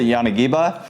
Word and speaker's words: Yanagiba: All right, so next up, Yanagiba or Yanagiba. I've heard it pronounced so many different ways, but I pronounce it Yanagiba.